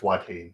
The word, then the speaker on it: Watain: by and I'm going to destroy this but Wain why I don't know how pronounce that yeah it's wat wat okay so to funeral by watain from